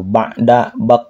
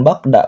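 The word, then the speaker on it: بعد: Ba'da, bukan bakda, ba'da.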